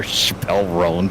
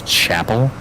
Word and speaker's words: Chappell: one Chapel rone but the way that it's spelled like it's kind of spelled like Dave Chappelle like so I was just calling her Chappelle Ron for the longest time and uh yeah I was I was corrected by a young person it's it's Chapel it's like really well